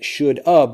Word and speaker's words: should have: I left my house so the blending of it the pronunciation is actually really great if you want to think about it as should up but when you write